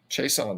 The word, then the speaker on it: Chiasson: Chiasson. I never know how to say his name. Chason, that's it.